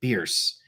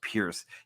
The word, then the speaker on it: Bierce: And he was inspired by a guy named Ambrose Bierce.